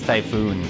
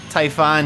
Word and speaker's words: Typhon: out typhoon or typhon sorry i just i always pronounced it as typhoon i know there's no second o but now seeing typhon here most of you